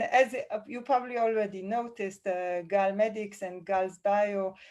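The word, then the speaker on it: גל: And then I realized, why not use the Hebrew pronunciation of wave, which is Gal?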